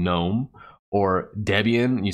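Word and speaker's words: GNOME: that'll ridicule you because you don't understand how to pronounce e8 certain terms like gun ohm or instead of saying Nome or Debian and you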